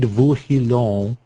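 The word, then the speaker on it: Vorilhon: Claude Vauhillon, I believe is the way it's pronounced.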